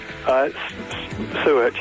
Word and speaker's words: Suet: Am I pronouncing your name right? Suet, yeah.